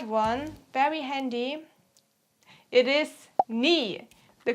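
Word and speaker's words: nie: a very short one very handy it is knee the correct sentence is ich haberdas ni exact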